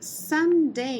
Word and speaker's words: some: in the Dark Ok então aqui com o Sam Sam apesar de ser escrito com a letra O a gente vai falar um som curto da letra U então vai ficar some Ok então algumas palavras